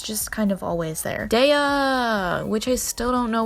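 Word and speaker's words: Daiya: Daya, which I still don't know why you would put an I in it if you don't want it to be pronounced Daya.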